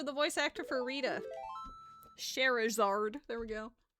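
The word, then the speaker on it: Scherazard: Sherazard. There we go. Not Charizard, it's Sherazard.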